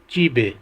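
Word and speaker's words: 집에: और अगला लफ्ज़ है चिप ए, प्रोनाउंस होगा चीबे।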